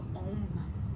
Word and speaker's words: Om: And we're going to use the sound of Om, O-M, or A-U-M, Om.